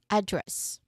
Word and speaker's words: address: Yes this is the first one address. Address. Yeah, with a stress on the first syllable because this particular uh when we talk about location, we are referring to a name, right?